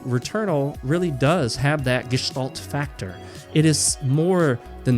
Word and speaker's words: Gestalt: like to call the gestal factor and uh that's the word that looks like gestal but I think it's more properly pronounced gestal with a sort of H sh sound in there I am half